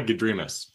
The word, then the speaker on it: Gedrimas: The problem is that he made MASS at the end of the pronouncer all in caps. So in my world, it would be Gedrimas. See what I'm saying? The emphasis on the.